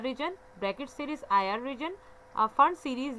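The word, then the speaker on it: Pfund: Brackett series IR region, फंड series, ये पैफंड नहीं अपने पढ़ना, पी साइलेंट है यहाँ पर, ये फंड सीरीज है दैट इज आईआर रीजन।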